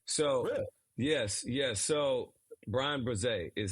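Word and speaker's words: Bresee: no it's pretty uh it's like bruh like Brazil oh so yes yes so Brian breze is how you really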